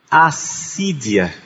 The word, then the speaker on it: acídia: Chama-se assídia. Em grego, aedia. Em português, assídia. Escreve-se A, C I, D I, A, com um acento no primeiro I. A sídia. Vocês vão encontrar também outras formas de se escrever essa palavra, assédia, assedia, mas a mais comum na linguagem espiritual é assídia.